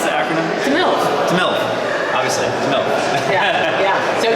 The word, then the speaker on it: TMiLV: Have we settled on how to pronounce the acronym? TMiLV.